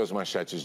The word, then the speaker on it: as manchetes: Você já ouviu as manchetes de hoje? As manchetes, né, então não é S e não é SH, né, as manchetes...